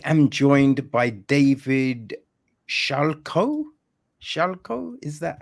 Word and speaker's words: Schalko: people so I am joined by David Shalo shalco is that how you yeah that's that's the right pronunciation right Splendid David Shalo who is the